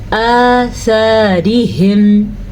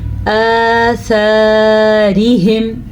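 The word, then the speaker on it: آثارهم: زبر الف سا، آثارہم، را کو باریک پڑھنا ہے کیونکہ را کے نیچے زیر ہے۔ ہا کے تلفظ کا دھیان رکھنا ہے، اکثر لوگ اس کو پڑھتے ہیں ہم، نہیں یہ ہے ہم، سینے سے اس کی آواز نکلتی ہے اس ہا کی، حلق کا آخری حصہ اور سینے کے ساتھ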